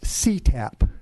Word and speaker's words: CTAP: Acronym is CTAP, and that's the way it's pronounced, the California Telephone Access Program.